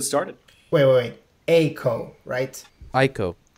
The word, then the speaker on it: Eiko: wait wait a co-write I cope it's no no no no come on listen as a kid I pronounced the Eco which is clearly wrong it's definitely ICO look Camaros we're Americans